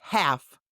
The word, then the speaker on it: half: Now the L is silent, but it still hangs out in the spelling, like a ghost of sounds past.